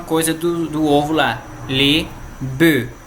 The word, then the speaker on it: bœufs: E daí o plural, les bœufs. Mesma coisa do ovo lá, les bœufs, sem pronunciar o F.